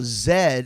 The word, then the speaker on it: Z: refrain if you don't em z eh now Zed is the Canadian pronunciation of Z correct you guys say Z